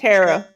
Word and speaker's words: Tarot: Tarot.